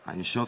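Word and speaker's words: אין סוף: Inchauff, c'est la correcte prononciation de sans limite en hébreu.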